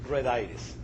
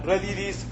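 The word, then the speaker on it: redes: we have it is never pronounce it reditis, you should really pronounce it uh redis or but never pronounce it reditis.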